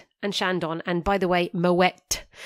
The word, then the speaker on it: Moët: And by the way, Moët, you do pronounce the T at the end.